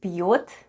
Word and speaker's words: пьёт: The first sound is P. Then we have soft sign. And soft sign makes the preceding letter sound soft. So we have P. Then we have Ё and T at the end. And altogether it's пьет.